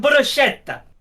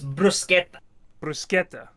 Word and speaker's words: bruschetta: __ ] good um how are we meant to say bruschetta Arab he said bruschetta I don't know how you say it that's how everyone in the UK says it because that's how it looks oh it's Brusque bruschetta oh yeah because they